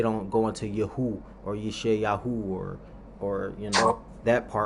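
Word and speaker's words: ישעיהו: of it, I mean, Isaiah's name is pronounced Isayuha, Isayuha or something. Yeah. Uh, Yeshayahu. Yeah. yeah, Yeshaya. Isayahu. That's Mm. how his name is really pronounced.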